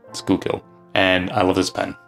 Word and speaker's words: Schuylkill: I hope I pronounced it right, Schuylkill. I didn't pronounce it right in my Nahvalur video, my review on these pens here, but I've been since corrected, Schuylkill.